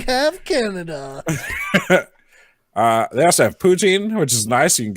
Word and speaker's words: poutine: They also have poutine, which is nice.